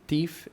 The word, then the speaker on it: teeth: E esse Brush TH, o TH no final dessa palavra vai ter que ser pronunciado como um F mesmo, F de faca. Certo.